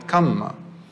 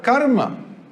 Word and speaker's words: kamma: I say karma because that's how they say it. We call it kamma, but it's the same thing. Now, they don't use the word karma as far as we understand karma, meaning action.